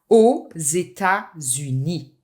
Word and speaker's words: aux États-Unis: So it's very important that you make the liaison here. Aux États-Unis.